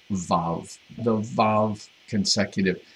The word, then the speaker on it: vav: It looks like wow, the way he transliterates it. We don't have to go into why that's the case. It's pronounced vav, the vav consecutive.